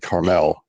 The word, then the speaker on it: Carmel: a little bit south of Carmel, which is, Carmel. Yeah. That's the proper pronunciation.